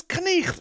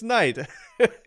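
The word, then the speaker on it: knight: We don't say knicht anymore. We say night.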